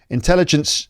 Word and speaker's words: intelligence: uh artificial intelligence uh intelligence the stresses on the second syllable but it's put it on the first syllable allows users to interact